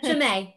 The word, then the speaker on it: Chimay: So Chimay.